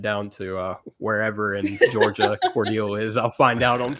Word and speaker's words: Cordele: Cordele, how do you pronounce it? Cordele. Cordele, cool. That's what I put. It's Cordele.